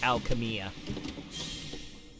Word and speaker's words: Alchemia: No, it's spelled silly, and it's pronounced Alchemia.